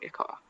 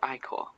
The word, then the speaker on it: ichor: I can fill it with magical ichor. That's pronounced Icor.